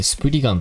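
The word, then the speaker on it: スプリガン: の主人公は裏解決やと書いてしプリ丸と読む裏影を知る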